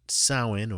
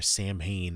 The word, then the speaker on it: Samhain: make use of halloween not sahan or samhain as some pronounce it but halloween see we're